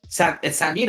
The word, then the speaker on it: Samino: And it's Samino. Is that how you say it correct? Samino? Yep. Okay.